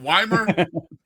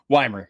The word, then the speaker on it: Wimer: Is it Is it Wymer? Wymer?